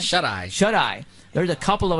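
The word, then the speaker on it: Shuteye: How do you pronounce that? Shut-Eye.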